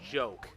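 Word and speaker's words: Joka: too but um yeah the way that you pronounce names in Fanta million is different than how you pronounce it in English and Japanese shoka in chap Infanta million is pronounced as joke so that even they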